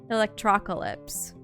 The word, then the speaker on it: Electrocalypse: No. It's Calypse. Electrocalypse. That's weird. Because think about it. Apocalypse. So, therefore, it would be Electrocalypse.